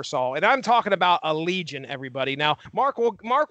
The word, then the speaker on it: Allegaeon: call again yeah you do but it is pronounced Allegiant alligator's homosexual aliens oh that's uh that's that's